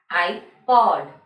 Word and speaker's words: iPod: Here iPod we will say I as single alphabet I, and then we will say using the phonic sound P-O-D, pod. iPod.